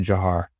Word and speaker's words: Dzhokhar: So, yes, it looks like, Dzhokhar, something like that, but it's actually Jahar is how he pronounced it.